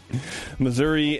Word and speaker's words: Missouri: looking for me yeah Missouri uh on my way to the center of the Earth to live with the mole people learn how to say it right though it's Missour all right everybody thanks